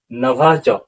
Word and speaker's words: नभश्च: और अगले कड़ी में इस छाती को बेधता हुआ नभश्च, अब इसका उच्चारण क्या होगा, नभश्च, यहाँ पर देख लीजिए